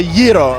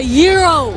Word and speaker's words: gyro: pronunciation it's actually a gyro more more more of a Y pronunciation gyro with a rolled r00